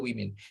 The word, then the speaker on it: women: Kalau woman itu W-O-M-A-N itu woman, tapi kalau pakai E itu bentuk jamak bacanya women.